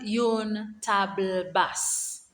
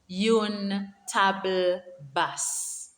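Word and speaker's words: une table basse: is called yon bibliotech coffee table is called yoon table bus yoon table bus a shelf is called an etager and if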